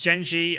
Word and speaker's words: Gen.G: You should pronounce Gen.G and Genji the same way.